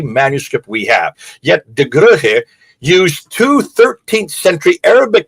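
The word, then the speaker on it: Goeje: I don't know how to pronounce, but I've been told it's Rugge.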